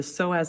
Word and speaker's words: psoas: it's kind of a weird name that p is silent technically it starts as the iliacus then we have the psoas measure and they combine to form the iliopsoas